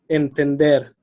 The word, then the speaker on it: entender: I'm going to read, for example, entender, mayor, reloj. So the stress is in the last syllable.